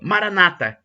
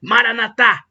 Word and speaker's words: Maranata: acentuando a penúltima sílaba Maranata e como dizem os católicos dando a tônica na última sílaba Maranata significado é o mesmo